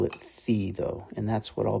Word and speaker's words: phi: 3D and those coordinates are row Theta and F and I'll go ahead and spell those out